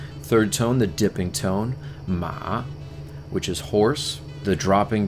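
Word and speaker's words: mǎ: Third tone, the dipping tone, ma, which is horse.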